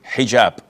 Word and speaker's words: hijab: And I know in France they don't pronounce the H when it is in the beginning of the word as in hotel or but this is an Arabic word.